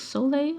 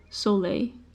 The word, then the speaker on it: Soleil: of the main characters there Soleil she is Soleil I don't actually I don't pronounce the name of my characters out loud so now it feels so lay so lay yeah she uh she uses she